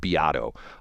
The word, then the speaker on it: Beato: Have you ever heard of a guy, it's funny because some people call him Rick Beato, but he actually pronounces his name Beato, B-E-A-T-O.